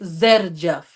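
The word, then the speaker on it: Xerjoff: It's not Jerjaf, it's Zerjaf. Yeah, I say Okay? Zerjoff. A lot of Zerjaf. people say Jerjoff, but it's for me, I say Zerjoff.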